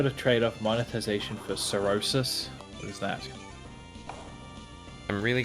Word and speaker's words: cirrhosis: right i was right i looked up cirrhosis pronunciation and what is it jack it's cirrhosis that's comprehensive look at